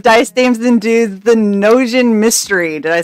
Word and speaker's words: Gnosian: episode one of dice Dames and dudes the noan mystery did I say that right yeah yes